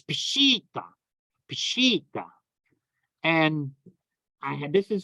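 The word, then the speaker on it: Peshitta: at all it's bushita like a sheet like sheets you put on a bed like that it's a double e sound it's a hawasa in Aramaic so it's pushita pashita and I had this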